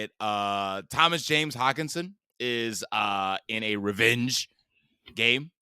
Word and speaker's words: Hockenson: Thomas James Hockenson is in a revenge game, and people are